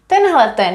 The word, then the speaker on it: tenhleten: Tohle, tohleto, tamto, tenhleten. And did you also know that you can find another informal forms? Instead of saying tenhleten, you could also have Tendlecten with the t here.